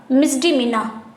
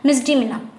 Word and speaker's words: misdemeanour: ए ही हो जाएगा, मिसडीमिना। इसको क्या पढ़ेंगे? MISDEMEANOUR, मिसडीमिना।